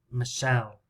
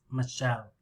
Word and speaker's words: Michelle: a noob because it's the sound or here michelle michelle so we have two syllables michelle michelle maybe you can make cards